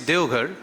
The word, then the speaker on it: Deoghar: Still I was thinking while I was sitting over there, that could it have been Deoghar, D-E-V? But no, to follow the pronunciation, it's Deoghar.